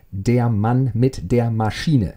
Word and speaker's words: Der Mann mit der Maschine: Yes, for all you non-German native speakers out there, that's how you pronounce it. It's Der Mann mit der Maschine, yeah?